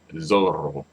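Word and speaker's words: zorro: right so L Zoro actually Zoro because the accentuation is on the second to last syllable when it ends in a vow or interest you know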